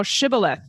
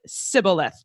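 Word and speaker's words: shibboleth: It says quote say now shibilith and he said cibilith for he could not frame to pronounce it right.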